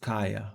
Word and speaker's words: Kaja: Uh, unfortunately I have to leave my It's spelled Kaja but pronounced Kaya.